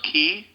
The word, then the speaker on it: Qi: smart cards which are spelled q i they're pronounced key key cards Qi key cards they